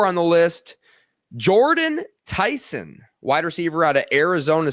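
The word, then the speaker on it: Jordyn Tyson: He had a big loss this last week and by way of Jordan Tyson. Am I pronouncing that correctly?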